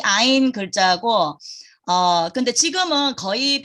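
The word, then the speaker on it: ע: 근데 히브리어에서는 이 글자가 알레프하고 이제 같은 발음이 됐어요. 옛날에 오리지널로는 이게 이 목에서 올라오는 소리였거든요.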